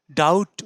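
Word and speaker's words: doubt: আর কি ঠিক হচ্ছে হয়ে গেল সেলফ ডাউট ডাউট উচ্চারণ না ডাউট এবার একটু খুব সুন্দরভাবে দেখুন এদিকে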